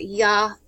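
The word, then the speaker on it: Yohualtonatiuh: At the center of the stone is a representation of either the sun god Tanatua, T-O-N-A-T-I-U-H, the day sun, or Yahutanatua, the night sun, and that's spelled Y-O-H-U-A-L-T-O-N-A-T-I-U-H, or the primordial earth monster, Tal-Tek-Huti,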